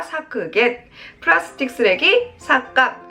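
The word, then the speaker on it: 削減: 우리 사크겐 하시면 되겠습니다. 사크겐.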